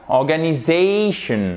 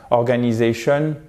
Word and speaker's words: organisation: Quand vous avez l'apostrophe ici, ça signifie que derrière, donc sur les deux lettres soulignées, vous avez la syllabe qui est porteuse de l'accent tonique. Donc, ça nous donne « organisation ». Vous voyez, il faut vraiment appuyer là-dessus. Parce que si vous faites quelque chose de plat comme en français, « organisation », la